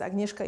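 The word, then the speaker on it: Agnieszka: knows me as my full name is agneska but you know it's spelled here in case if you want to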